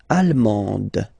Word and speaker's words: allemande: L'Allemagne, allemand, allemande. Okay, same thing here. Okay, you don't pronounce the final D, but then you pronounce it here for the feminine form.